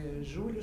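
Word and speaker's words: Giulio: Júlio se escreve G-I-U-L-I-O, e Argan é Argan mesmo. Júlio Carlos Argan.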